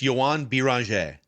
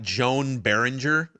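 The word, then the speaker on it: Joan Beringer: So, so b So it's it's yan bir. Yeah. So I think it's pretty simple actually. Bang. But I was trying to do that phonetically in my head. A big struggle for the sports dad. Yan bir. We're so it's not Joan Behringer. That's that that'd be the most American American way to say it.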